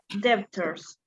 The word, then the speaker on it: debtors: Yes, debtors. Debtors. Remember, it's Very good. So, debtor. You shouldn't debtors.